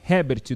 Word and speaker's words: Herbert: Hoje ele conversou com a gente também no CT do Jardim Olina e já deixou claro que a pronúncia é Herbert do nome dele.